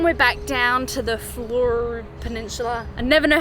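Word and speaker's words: Fleurieu: Then we're back down to the Fleur Peninsula. I never know how to pronounce that. Fleuria Peninsula.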